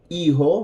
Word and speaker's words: hijo: Son, hijo. Remember, the H is silent.